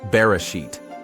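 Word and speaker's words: בראשית: Yod sound, like Y. In this word, it combines with vowels to make an E sound. Tav sound, like T as in tall. Altogether, the word is pronounced Bereshit and means in the beginning.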